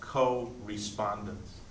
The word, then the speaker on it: correspondence: For the rest, they would call expression or correspondence. Correspondence, which can also be pronounced co-respondence.